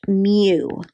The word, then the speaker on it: mu: It's pronounced mu.